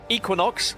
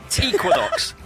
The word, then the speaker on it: Equinox: All right, because Equinox have asked that I call them Equinox rather than Equinox, which is the English pronunciation rather than the American.